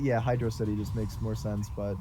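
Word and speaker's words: Hydrocity: First, somebody in the chat is giving me shit for pronouncing it Hydrosity. Like, isn't that how you pronounce it? I think it's Hydro City. Hydro City, but everybody says fucking Hydrosity, just like everyone said fucking Studiopolis.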